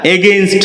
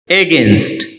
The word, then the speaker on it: against: এগেন্স্ট এটাকে আমরা এগেইনস্ট বলে থাকি যার সঠিক উচ্চারণ হচ্ছে এগেন্স্ট এ শব্দটি বাক্যে প্রিপজিশন